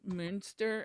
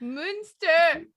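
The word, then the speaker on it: Münster: native English speakers that if you put whatever the umlaut is and put an E after the letter, so if it's an umlaut with a U, you would pronounce it like UE. So like the cheese Munster.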